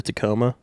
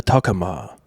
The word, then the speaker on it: Tacoma: You know, like the Tacoma? Mm-hmm. I think in Japan that is the Toyota Takama. Oh. It's not a Tacoma, dude.